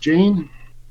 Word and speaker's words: Jane: So next we have, I believe that's pronounced Jane. Yep.